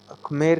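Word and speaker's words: Khmer: इसका प्रोनाउंसिएशन थोड़ा सा टफ है, इसको कुछ लोग खमेर कहते हैं, कुछ लोग मेर भी कहते हैं, ठीक है।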